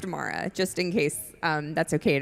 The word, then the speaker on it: Amira: her name is pronounced Amara, just in case that's okay to tell you.